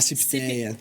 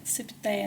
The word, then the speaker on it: CIPTEA: Como que é a pronúncia? A CIPTEA. CIPTEA, né?